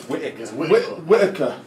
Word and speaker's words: Whittaker: It's Whittaker.